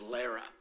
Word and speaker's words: Lara: And I mispronounced it. It's Lara.